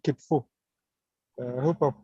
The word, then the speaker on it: Kitfo: Yeah, Veneza is posted and said it's called Kitfo. I hope I've pronounced it well. It's called Kitfo. Sure, you pronounced it well.